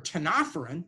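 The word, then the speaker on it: ctenophoran: If you're a cnidarian, the C is silent, or you're a ctenophorean, the C is silent, on both of those, jellyfish or cone jellies, you only have two tissue types.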